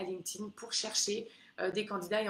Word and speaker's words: LinkedIn: Pas LinkedIn, LinkedIn, ça se prononce. Éventuellement LinkedIn si vous voulez. Mais c'est vraiment LinkedIn et c'est un réseau qui est incontournable au Canada.